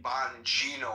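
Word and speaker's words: Bongino: didn't and and thank you for correcting me, Bonino. I think I mispronounced his name and I apolog Yeah,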